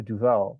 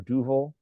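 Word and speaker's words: Duvel: we all know the beer du or duil depends on how you say it can you guys see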